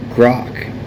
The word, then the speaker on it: Grok: So that is how Grok is pronounced.